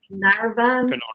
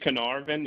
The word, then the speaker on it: Carnarvon: Cancher asks, in addition to the Mid-Breton diversion, will the now I'm going to probably butcher this, Carnarvon diversion and Mardi Gras Pass be open also? So please correct my pronunciation there. It's Carnarvon, and I'm not 100% sure